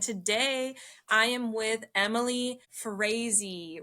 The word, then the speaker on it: Frase: This is episode 16 I believe and today I am with Emily Frezy rhymes with crazy as she self-describes.